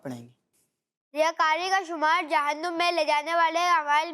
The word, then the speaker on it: جہنم: یہ اس کو بعض لوگ جہنم پڑھ رہے ہوتے ہیں، تو یہ جہنم نہیں ہے. اس کا جو درست تلفظ ہے وہ ہے جہنم. تو یہ جہنم نہیں بلکہ جہنم ہے.